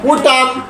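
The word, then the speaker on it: autumn: তাহলে এখানে এন এর উচ্চারণ হয় নাই। ইউ টি ইউ এম এন, টি ইউ এম এন। আবার কন। উটাম উটাম উটাম।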